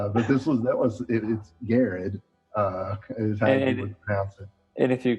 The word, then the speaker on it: Garrard: iran it could be gerard gerard um a lot of times people know that it's pronounced garrett so they leave that last r out of there as someone who has